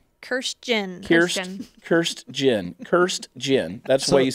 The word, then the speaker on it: Kirstjen: Kirstjen. Does anyone know how to say her name? It's spelled Kirstjen. Kirstjen. Kirstjen.